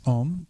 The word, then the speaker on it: Om: So Shri Shrim Maha Lakshmi Om is is pronounced Om but Au M.